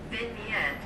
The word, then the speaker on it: vignette: Nigga know how to pronounce it. Let me see. A few moments later. Vignette.